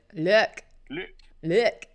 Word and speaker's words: Luc: Because Black Belt 23 says, how do you pronounce Luke? Luke.